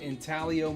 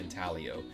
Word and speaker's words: Intaglio: your company they'll say italio the g is silent strangely enough uh but yeah this